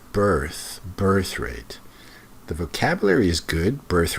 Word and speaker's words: birth rate: It's not breath rate, it's birth rate.